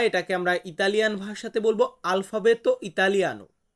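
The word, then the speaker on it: alfabeto italiano: বলবো ইতালিয়ান বর্ণমালা এটাকে আমরা ইতালিয়ান ভাষাতে বলবো আলফাবেত ইতালিয়ানো কি বলবো বলুন তো আমার সাথে আলফাবেত ইতালিয়ানো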